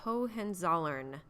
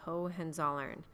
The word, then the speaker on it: Hohenzollern: ruled in Prussia is known as the Hohenzollern that is how you say that last name the Hohenzollern now before you go